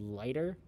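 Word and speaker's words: Laigter: use is a program called lighter it's spelled in a really funny way l-a-i-g-t-e-r lighter the way that i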